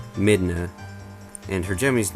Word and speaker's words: Midna: But anyway, her English name would be pronounced Midna, and her Japanese name is pronounced Midana.